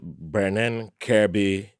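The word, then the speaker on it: Birnin Kebbi: which reduced the Benning the beron kby B not Ben like Ben I'm I'm begin to lose my pronunciation but it's b i r n i n kby d keby k e BBI which was to the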